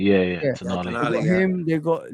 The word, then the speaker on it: Tonali: Tonali, yeah. Tonali.